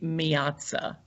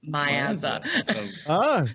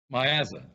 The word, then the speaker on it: Miazza: The truth is, it should be Miazza. That is correct. Miazza. Yeah. But the Southern drawl has destroyed it and turned it into Miazza. So pronounce it for me, Shorty. Miazza.